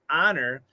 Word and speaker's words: honor: is a short o the h of course is silent so that's why somebody honor not somebody owner so those o's are